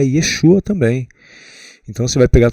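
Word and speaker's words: ישוע: Então, mas eh pelo que eu pesquisei, pessoal, a pronúncia correta do nome é Yesua, em hebraico, né?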